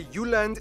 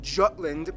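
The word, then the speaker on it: Jylland: I'm gonna pronounce the location names in their proper Danish context. So here we go. Denmark is made of the Jutland, not Jutland, peninsula that connects to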